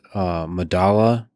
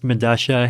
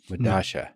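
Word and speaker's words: Medellín: I believe it's pronounced Medasha. It's a South American subway station. I forget where. But spelled with two L's. Yeah, because that's that's how Spanish works, right? Like the two L's have Medasha.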